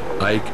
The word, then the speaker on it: Ike: Y le contesté, dicen Ike, que es como se pronuncia en español su apodo.